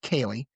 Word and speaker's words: Ceili: For nearly 30 years, he has fronted Kaye Rain, that's pronounced Kaye, Celtic rock band built